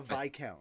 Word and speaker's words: viscount: Was that a viscount? Huh? It's pronounced viscount.